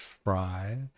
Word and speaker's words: Frey: So wait, if Frey is pronounced Fry, does that mean it's pronounced Susan Lie?